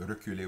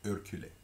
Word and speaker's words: reculer: We typically reverse the ER in Louisiana French. Rather than reculer, we say reculer, reculer.